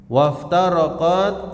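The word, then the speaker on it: وافترقت: Waftaraqat an-nasara ala ithnataini wa sab'ina firqatan. Waftaraqat ya, maksudnya wa iftaraqat ya, bacanya waftaraqat, dan terpecah golongan Nasara menjadi 72 golongan.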